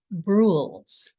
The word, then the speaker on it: Brules: our onew exploration is bruls I did pronounce that correctly I'm not slurring or anything it rules with a b and it comes from